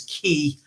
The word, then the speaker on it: ki: in both ways and in japanese they write it as ki and they pronounce it as ki it all means the